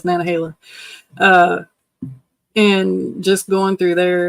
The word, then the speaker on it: Nantahala: Some people might pronounce it Nantahala, but it's Nantahala.